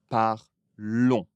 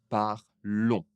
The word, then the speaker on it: parlons: On ne prononce pas le S. Mais nous parlons, nous parlons.